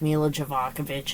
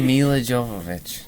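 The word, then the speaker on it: Milla Jovovich: a rule to never watch a movie with mila javakovic in it again because you get mean when she's on screen mila jovovich i said it right yeah mila jacobs jonathan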